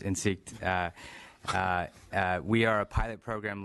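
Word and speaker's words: Insikt: CEO in SIG's and it looks like insect but it's pronounced in seat we are a pilot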